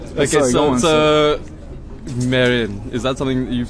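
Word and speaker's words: Mesrine: Mérine. Mérine, but there is an S in there. There is an S in there. But And he explains in the film that you shouldn't pronounce the S, like the metro station called Miroménil.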